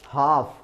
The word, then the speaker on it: half: तो इसने कहा वॉक यानी चलना, काम यानी शांत, हाफ HALF, फिर वही बात है, यहां पर रिपीटिशन है कि फिर दो कंसोनेंट आ गए तो एक ने साउंड किया, एक साइलेंट हो गया।